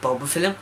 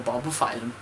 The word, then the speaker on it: Bulbophyllum: Bulbophyllum or bulbophyllum?